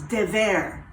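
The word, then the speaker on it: דבר: dipping on the napkin disease de ver that's how you say it in hebrew there were many incurable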